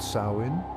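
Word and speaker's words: Samhain: Year October 31st this Festival was called samhan pronounced sain samhan was a time of great significance for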